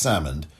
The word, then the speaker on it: Salmond: scotland due to the alex salmond or alex salmond is the pronunciation s-a-l-m-o-n-d alex salmond alexander inquiry